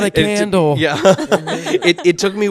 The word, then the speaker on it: Kyndal: My name is Kendall and that Kindle is K Y N D A L. If you're ever wondering how to pronounce it, just think electronic book and that's me.